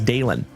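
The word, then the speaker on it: Dalen: If you are new here, folks, my name is Dalon. D A L E N. Like Dale plus N.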